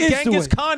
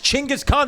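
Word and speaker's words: Chinggis Khan: But that is the way you don't say genis Khan. It's Chingis Khan. That is the Mongolian pronunciation.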